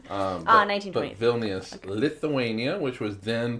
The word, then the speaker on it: Vilnius: I see, but I heard like villainous, like that's probably villainous. That's probably how I did pronounce it. 1920. But Vilnius, okay.